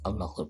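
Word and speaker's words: الله: kalimat yang lain contohnya Tapi kalau ketika di lafaz Allah dalamnya bisa tebal-tebalnya itu dengan mengangkat pangkal lidah kita Allah bukan bukan monyongkan bibirnya tapi mengangkat tangan kita hingga terlihat bacaannya tebal Allah bukan menonjolkan tapi Allah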